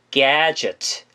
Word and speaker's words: gadget: 자, 가제트란 단어 보이시죠? 이거는 발음이 gadget, gadget 라고 발음하시면 되고요.